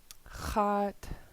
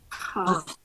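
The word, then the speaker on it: x̱áat: Hot. Hot. Hot. Good. Do a song. This is underline X. So it's pronounced in the back of your throat.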